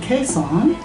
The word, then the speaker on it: Khesan: I think it's pronounced Khesan. Does that sound right? Sounds about it. Sounds about right.